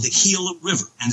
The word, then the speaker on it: Gila: It's called the Gila River. And it's after the Gila, was spelled with a G, Gila River Indians.